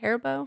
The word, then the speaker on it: Haribo: watermelons that is that how you say it Haribo Haribo I'm glad you said it first I